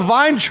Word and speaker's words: Vayntrub: Milana Vine.